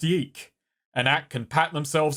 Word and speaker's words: YIIK: drops why two cake why two cake y2k y2k ah mum it's pronounced yike an act can pat